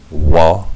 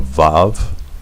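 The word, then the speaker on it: וו: they changed it to, instead of it being a wa, that's the letter, wa, the 6th letter of the Alef Bayt has a numerical equivalent of 6. Instead of pronouncing it as a wa with a sound like that, they made it a vav, same numerical equivalent, but with the sound of v, v.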